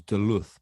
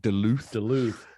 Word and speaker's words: Duluth: Or black bear, and on that one, I've always been corrected on the pronunciation because I on reading it, thought it was Duluth, but I gather from Americans it's Duluth. Duluth.